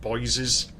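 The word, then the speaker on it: Boyes: So it's pronounced Boisees. That's your local pronunciation especially like Esel Road.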